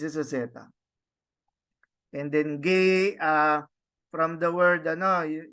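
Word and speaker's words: γῆ: of the world no gay so no so but this is ETA so you pronounce it as gay no no like like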